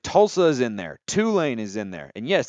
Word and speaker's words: Tulane: Tulsa is in there Tulane is in there and yes that's how you pronounce it you emphasize the two I I just do